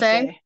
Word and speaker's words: Inose: Inase? Inose. Yeah, Inose. Inose. Yep. Inose. Thank you Um, very much. not a problem. It's a short I versus a long I.